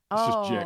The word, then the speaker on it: Jehk: Do you pronounce it Jük? So it's essentially just Jack. It's like Jack but with an E. Jack.